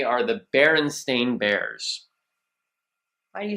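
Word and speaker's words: Berenstain: it like that because most people think it's the barenstein or the baron Stein because a lot of people believe wholeheartedly that it is s t i n at the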